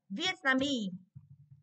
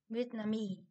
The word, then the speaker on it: Vietnamese: Vietnamese. Vietnamese. Thì trọng âm rơi vào mi.